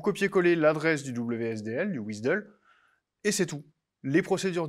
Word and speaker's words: WSDL: la description du websice le WSDL qu'on prononce wizdle alors c'est ce lien